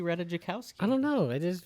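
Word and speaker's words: Ratajkowski: the movie than Emily ratajikowski Reddit I think as you say I think you just say ranikowski I think it's ratajikowski ratajikowski there's a j right there yeah everybody got to be silent r-a-t-a-j-k-o-w-s-k-i ask Google how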